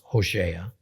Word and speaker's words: Hosea: in the book of Hosea actually pronounced HOSA chapter 1 we get